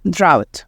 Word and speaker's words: drought: you to know that we have GH here in the word drought that don't pronounce so we have the and then out drought okay okay so a